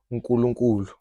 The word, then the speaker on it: Unkulunkulu: Unkulunkulu.